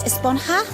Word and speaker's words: Esponja: that's what this whole a sponger grande thing has been about huh actually it's pronounced esponja with an H sound at the end yeah